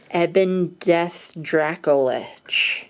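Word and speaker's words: Ebondeath, Dracolich: that's nice for you eben death dracolich correct that's how you say it correct now notably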